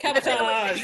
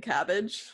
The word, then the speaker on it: cabotage: Time you've been mispronouncing cabbage. That's the one. How Cabotage.